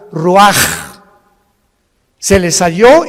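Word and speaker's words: ruach: exhaló Isaac el Roach así como suena se pronuncia la c en hebreo como J ruaj se le só y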